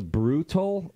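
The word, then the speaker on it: Brewtal: I think it's called the Brutal, like brutal, but it's spelled B-R-E-W.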